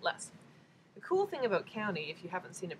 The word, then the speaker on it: Kauni: you the new color first so this is County and I was doing a little bit of